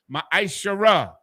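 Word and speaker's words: מעשר: verses 8 through 10 means 10th in the hebrew and is pronounced ma shara 10 of every penny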